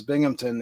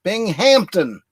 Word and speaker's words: Binghamton: up the crowd and every time he says Binghamton that comes out Bing Hampton you know because everything is Hampton in Germany it's like there's no pee in there and the you know the accent is on the wrong syllable but you know it's